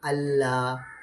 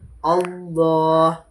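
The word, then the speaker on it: الله: எப்படி என்று சொன்னால் இப்ப இந்த பாருங்க எங்கட நாக்கு வந்து மேல இப்படி நல்லா பட்டாதான் அழகான முறைக்கு வாய் நிறைய வரும் அல்லாஹ் என்ு நோர்மலா பட்டுச்சுன்னு சொன்னா அல்லாஹ் அல்லாஹ் அப்படி அப்படி இல்லாம வாய் நிறைய உச்சரிப்பாக அழகான முறைக்கு சொல்ல வேண்டும் அல்லாஹ் சரி ஒரு சிறு உதாரணங்களை பார்ப்போம்.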